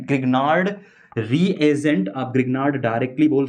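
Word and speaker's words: Grignard: पर मेंशन किया गया इसको लिखा गया गिगनार डी जो होता है यह साइलेंट देखने को मिलेगा आपको गिगनार बोलते हैं इसको हिंदी में ग्रिगनार्ड रिएजेंट आप ग्रिगनार्ड डायरेक्टली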